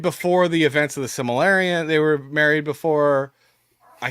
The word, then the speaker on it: Silmarillion: Like they got married, they were married before the events of the Silmarillion. They were married before. I can never say that actually. By the way, Silmarillion. Silmarillion.